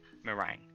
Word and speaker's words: meringue: Meringue. Meringue. Meringue. It's Right. meringue. Okay. You don't have to say it like French. It's meringue. That's how they say it.